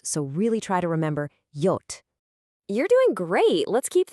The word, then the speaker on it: J: J is pronounced yot. It sounds like an English Y, as in Yogurt. This one trips up a lot of learners, so really try to remember yot.